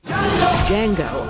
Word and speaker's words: Django: And yet, here they are, facing off in one of the most daring movies of the year, Django Unchained. What's your name? Django. The D is silent.